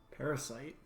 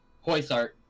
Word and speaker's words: Poisart: Parasite. I think I pronounced that wrong. Poisart.